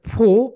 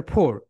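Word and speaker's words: four: এটা দুইটা প্রোনাউন্সিয়েশন, একটা হচ্ছে ফো, একটা হচ্ছে ফোর। ব্রিটিশটা বলে ফো।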